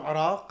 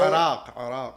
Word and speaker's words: Iraq: I'm from Iraq or Iraq, you know, however you want to pronounce it.